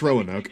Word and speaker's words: Roanoke: That's how it's pronounced, Roanoke? Oh, it was like Roanoke or something like that. It's Roanoke. On Triple H in our main event.